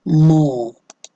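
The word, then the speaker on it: more: तो next word है आपका मो, मो। इसमें आपका R और E साइलेंट है।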